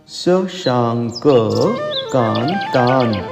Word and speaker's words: शशांक कांतान: अब संभलिएगा, हम पढ़ देते हैं शशांक कांतान, परंतु शुद्ध उच्चारण के लिए या तो शशांक का क अकार सहित पढ़िएगा, शशांक कांतान, या फिर अनुस्वार तक पढ़ करके क कांतान पढ़िएगा।